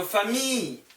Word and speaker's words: famille: famille, L 발음 안 나와요. I, L, L, E, 그냥 famille.